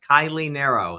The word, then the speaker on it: Kiley Naro: Kylie Nero. That's how I pronounce my name.